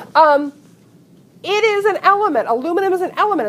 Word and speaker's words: aluminium: did that's good um it's aluminum foil or as the Brits say aluminium which I just think sounds ever so sophisticated um it is an element aluminum is an element it's